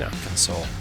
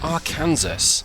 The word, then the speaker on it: Arkansas: Today we are in a Freightliner FLD and we're in Arkansas, or Arkansas as it looks like it's spelled to us Brits.